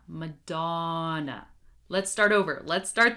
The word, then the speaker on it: Madonna: You might be trying to pronounce them in English and you don't even realize that you're still using sounds from your native language. For example, Spanish speakers, I don't want to hear Shakira, okay? Shakira, Shakira, Shakira. No, Madonna, okay? We're going to say Madonna, Madonna.